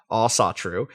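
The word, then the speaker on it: Ásatrú: the long email uh all satru pronounced all satru uh absolutely doesn't make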